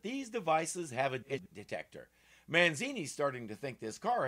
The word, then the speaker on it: Manzini: Manzini. Kind of rhymes with Houdini, don't it?